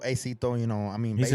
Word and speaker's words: Acito: Aito. Acito.